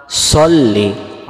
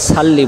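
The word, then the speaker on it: صلِّ: আল্লাহুম্মা সল্লি আলা।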